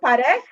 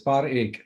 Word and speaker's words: Parekh: Now, is it Parekh or Parekh? Parekh, How yes. Parekh? Sanjay, yes. Very good. Parekh, yes. Parekh, yes. And we pronounce it Parekh.